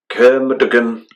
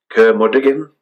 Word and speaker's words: Curmudgeon: Kermuduggan Music and Poster. How do you pronounce it? Kermuduggan Records? Hang on then, you pronounce it. You can read that one there. Yeah, it's Curmudgeon.